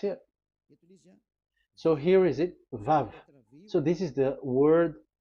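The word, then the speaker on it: ו: So the word, the shape Vav is really pronounced V, like Vogue. That is it, pronunciation. So here in this side, it's pronunciation. This is pronunciation. So according to the old Hebrew word today, those who, the owner of the words, I mean, so it's a V. So don't change it into W.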